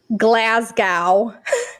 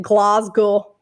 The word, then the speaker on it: Glasgow: born and raised in glasgow is how americans say it the scottish say it glasgow um so wait wait